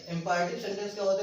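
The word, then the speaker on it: imperative: Next sentence है जिसके बारे में चर्चा करने जा रहे हैं, वो है इंपैरेटिव सेंटेंस। इंपैरेटिव सेंटेंस, इसको इंपीरेटिव नहीं बोला जाता है।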